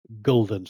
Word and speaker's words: gulden: a huge stack of guldens. I'm just going to pronounce it guldens, and sorry to the Dutch people out there, but I'll get a very sore throat if I keep saying gulden.